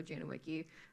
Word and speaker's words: Janowiecki: The name pronunciation was good. We say it both ways. 95% though, Janowiecki, to make it easier on others.